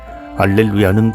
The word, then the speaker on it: 알렐루야: 해야 한다는 뜻이 두드러집니다 알렐루야를 할렐루야라고 또 발음하나요 전례에서는 미사 경본과 시간 절려서 성부의 또가 각기 직소에 나온 대로 알렐루야로 발음해야 합니다 알렐루야는 본디 히브리어 할렐루야에서 나온